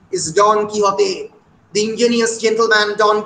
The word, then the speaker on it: Don Quixote: অনেক ধরনের পিকারেস ফিকশন পরবর্তীকালে লেখা হয়েছে, সার্ভেন্টসের বিখ্যাত পিকারেস ফিকশন, অনেকে বলে ডন কি হতে, ইংরেজি উচ্চারণ ডন কুইক্সোট, exact Spanish pronunciation is ডন কি হতে, দ্য ইঞ্জিনিয়াস জেন্টলম্যান ডন কি হতে অফ লামানচা।